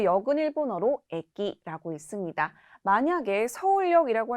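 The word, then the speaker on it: 駅: 또한 이 한자 같은 경우에는 쇼라고 장음으로 발음되는 것이 아니라 단음 쇼라고 발음되는 점 유의해 주시고요. 하단으로 내려와서 역 보도록 하겠습니다. 자, 역은 일본어로 에키라고 읽습니다.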